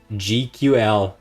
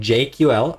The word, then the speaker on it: GQL: the other video and I have not pronounced gql correctly except like once I kept saying jql I think I was